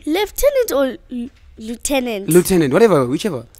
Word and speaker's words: lieutenant: the spellings we're rolling now spell the word leftenant say say that again the word leftenant an liutenant yes okay l i e u t e